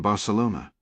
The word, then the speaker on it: Barcelona: Why was she in Barcelona? She pronounced it with the soft C, the way an American would, not the Castilian lisp.